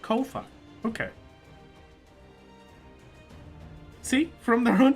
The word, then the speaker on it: Ko-fi: From their own Twitter, the answer is Kofi. Rhymes with Kofi.